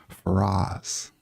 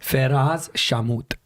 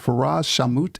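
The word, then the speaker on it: Ferraz Shawmut: okay and that is farz did I say it right farz no it's not right farz shamut oh I missed I missed half of it yeah you missed the last name okay and far shamut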